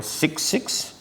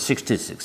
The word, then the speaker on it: 6,6: And example is nylon 6,6, not pronounced as 66, 6,6, Dacron, etc.